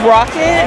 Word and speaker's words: RockCat: It's pronounced Rocket, but a lot of people seem to get that mixed up when they search for us.